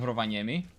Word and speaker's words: Rovaniemi: Very beautiful pronunciation of Rovaniemi.